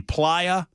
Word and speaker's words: playa: in just a second, the uh P L A Y A, it's pronounced the PIA, and it is the um desert floor in the Black Rock Desert.